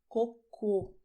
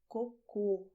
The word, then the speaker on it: cocô: "Poo" is "COCÔ". Pay attention: "CÔCO", "COCÔ". Two different words: same letters, but well the sound is different.